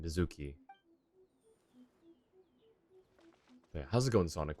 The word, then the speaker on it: Mizuki: All right, let's see how she pronounced the name. Don't tell Mizuki about our conversation. If she asks, just say that you figured it out all by yourself. She said Mizuki.